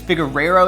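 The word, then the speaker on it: Figueroa: to mind was Nate I think it's figero is how you pronounce his last name my dude Nate is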